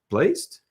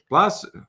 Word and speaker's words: Placid: Lake Placed? Placid. Okay, you think you know an English word, and then all of a sudden it's pronounced differently.